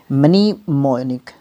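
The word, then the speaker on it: mnemonic: adjective word होगा मैनीमो यह थोड़ा सा स्पेलिंग एम एन ई यहां पर कंफ्यूजन जरूर करेगा और फिर मोनिक तो आसान ही है मनी मोनिक ठीक है मनी मोनिक है ना इस तरीके से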